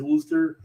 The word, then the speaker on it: Worcester: i kind of know it as wooster right but if you're like a foreigner you're trying to learn the american language that does not help you out at all you're just like